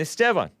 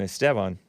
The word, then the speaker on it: Esteban: And the very first show was Sunday, September 3rd, 2017, the Hake Report with Joel and Esteban. That's roughly the correct pronunciation of Esteban.